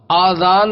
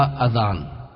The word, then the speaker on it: اذان: اللہ کا رسول ہوں۔ آذان ہے یا اذان؟ بعض لوگ آذان کہتے ہیں، یہ غلط تلفظ ہے۔ آذان جمع ہے اذن کی اور اذن کے معنی ہے کان۔ درست تلفظ اذان ہے۔ اذان کے لغوی